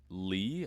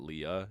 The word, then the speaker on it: Lea: But in terms of story, you play as Lee, I think is how you would pronounce it. Lee, not Leah. It's like Lea, no H. So I'm assuming it's just Leia. Lee.